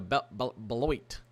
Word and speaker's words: Beloit: Stretching from basically Wichita to Topeka, to Concordia, to Beloit. That's how you pronounce it.